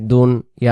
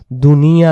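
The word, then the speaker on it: دنيا: সাওয়াবাদ, দাল নুন পেশ দুন, ইয়া আলিফ জবর ইয়া, এক আলিফ, উচ্চারণ সাওয়াবাদ দুন ইয়া, দুন ইয়া, শব্দটা বারবার আমি বলি, উচ্চারণ হবে দুন ইয়া। আমরা যেমন হলো দুনিয়া, দুনিয়া বলি, দুনিয়া না, অর্থাৎ দুনদান নৈরিশকের না,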